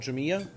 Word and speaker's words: Jumilla: Jumilla, and by the way, it's spelled J-U-M-I-L-L-A.